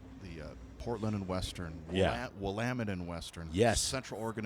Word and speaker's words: Willamette: Willamette and Western, Yes. Central Oregon and Pacific. Is that how you Port of- pronounce it? Willamette? Willamette. I That's always correct. said Willamette. Uh, Willamette.